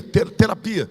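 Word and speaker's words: θεραπεία: Escreve terapeia, mas a pronúncia é ia, terapia.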